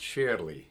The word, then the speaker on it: sairly: And uh surely is pronounced sherly in Scots often and it's working in this one.